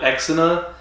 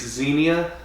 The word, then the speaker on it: Xenia: from uh golden eye it's spelled x so we always called it exina but i think it's xenia xenia i do like hot